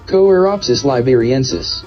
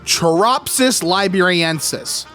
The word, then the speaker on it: Choeropsis liberiensis: Choeropsis liberiensis. All right, Choeropsis liberiensis. That is how I believe it's pronounced.